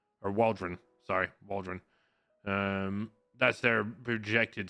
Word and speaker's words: Waldron: And then Michael King and Matt Waldrop. Or Waldron.